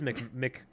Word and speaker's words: Macmillan: No, it is McMillan. Macmillan.